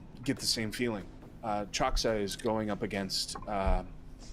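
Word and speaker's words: Chaksa: Can you also just remind us how his name is pronounced, please? Choxa. Choxa.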